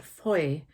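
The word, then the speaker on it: Fowey: in a place called Foy in Cornwall. Foy is actually spelled F O W E Y. So it looks like Foye, pronounced Foy.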